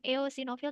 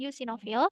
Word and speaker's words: eosinofil: Nah, kalau yang eosinofil, kita bacanya eo itu U ya. Bukan eosinofil tapi eosinofil.